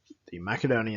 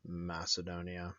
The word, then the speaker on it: Macedonia: so the makedonia ins Macedon Macedonia makkad on makedonia you're gonna hear an interchangeable based on different pronunciations whether it's a you know kind of modern English or you're going by a Latin pronunciation Latin or Greek so the makedonia --nz